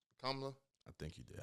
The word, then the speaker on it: Kamala: I said her name right, Kamala. I think you did. I seen a hat with a comma and then a lot. It was like the way you pronounce her name.